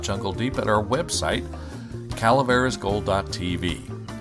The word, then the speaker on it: Calaveras: deep at our website Calaveras gold. TV now that's Spanish caleris c a l a v r a s gold G .tv you got